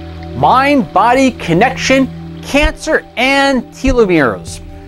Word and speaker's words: telomeres: Otherwise, sometimes we call it telomeres, but it should be pronounced telomeres.